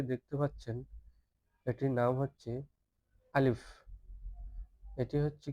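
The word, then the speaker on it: ألف: তো শুরুতে যে হরফটি দেখতে পাচ্ছেন এটির নাম হচ্ছে আলিফ।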